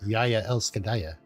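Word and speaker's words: Jeg elsker deg: It's spelled like Jagdegreg, but it's pronounced Yaya Elskadaya.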